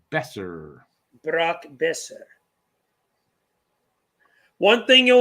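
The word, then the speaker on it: Boeser: Besser. It's pronounced Besser. Brock Besser. One thing you'll learn about me, everyone, I suck at pronunciation. No, me too. I used to call him Boser also.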